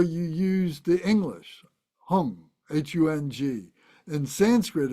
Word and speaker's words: hung: use the English hung hu n g in Sanskrit it's hum h M the Tibetans pronounce it hung hu n g whatever